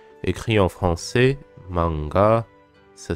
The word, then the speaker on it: manga: Donc beaucoup de Français, disons quasiment la totalité des Français, prononcent ce mot manga. Mais c'est pas vraiment manga, c'est bien Ma, ensuite et ga. C'est pas ga, c'est ga. Donc c'est pas manga, c'est manga. Manga.